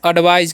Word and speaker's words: advise: एडवाइज। क्या पढ़ते हैं? एडवाइज। ठीक है। यहाँ पर AC का उच्चारण क्या हो जाएगा?